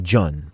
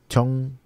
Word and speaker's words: 전: Yeah, it's about CH because the J is in the beginning. So in that case, it's hard to pronounce a soft sound. We make a medium hard sound. It's a CH.